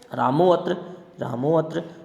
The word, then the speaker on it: रामोऽत्र: रामोऽत्र स्थाने अंतरतम है, स्थानेन्तरतम है, सहयुक्ते अप्रदाने सहयुक्ते प्रदाने आधारोधिकरणम। ध्यान रहे यहाँ पर अवग्रह लगाया जरूर गया है लेकिन उसका उच्चारण नहीं किया जाता है।